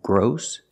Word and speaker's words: gross: the book is engrossing so remember the rule for words with oss the rule is they make the sound awe like saw and call like boss and cross and don't forget the exceptions like gross outgrows and ingross they all have the long o sound like no and go gross thank you for